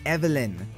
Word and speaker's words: Evelyn: It's pronounced Evelyn, with an emphasis on the evil. Oh, evil. Evelyn?